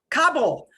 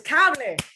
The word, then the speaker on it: cable: People say Kabul. It's not a city in the Middle East. It's not Kabul. It's cable. Perfecto.